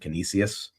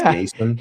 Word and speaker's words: Canisius: Last week, I butchered Canisius in the round herd, and he's got it pronounced Canisius.